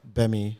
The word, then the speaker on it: Gbemi: If you write Gaptooth Nigerian, or if you write Gbemi with a silent G in the front, GBMI comedy.